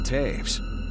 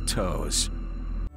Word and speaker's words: Toews: continues to insist that his last name is spelled t o e WS that might be how they do things in Winnipeg but in Chicago those letters don't spell Taves they spell toes when you pick your